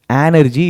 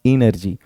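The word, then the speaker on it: energy: होता है ये और यह जो एनर्जी देख रहे हैं आप बहुत गलत प्रोनंसिएशन है इसको हम एनर्जी नहीं बल्कि ई की बजाय हम ए से शुरू करते हैं बोलने में इट्स एनर्जी इट्स नॉट इनर्जी मेरा बहुत एफर्ट लग रहा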